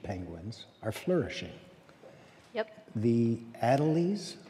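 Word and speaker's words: Adélie: other species of penguins are flourishing yep the ad alize how do you pronounce them adelie penguin adelie penguin yeah can you say a word about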